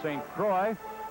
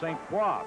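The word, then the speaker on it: St. Croix: paa here in Philadelphia they sometimes pronounce his name St Croy the correct Prince pronunciation is St qua so we'll switch back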